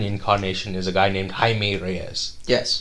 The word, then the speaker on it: Jaime: is a guy named Jaime Reyes yes it's spelled like Jamie yeah it's pronounced Jaime yes and he was